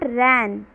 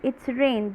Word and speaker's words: rain: And it's not ran. Ran means bhagna. Rain. It's rain.